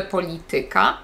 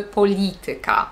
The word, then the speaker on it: polityka: samą liczbę sylab więc nie mówimy polityka mówimy polityka polityce dzisiaj rozmawiam z państwem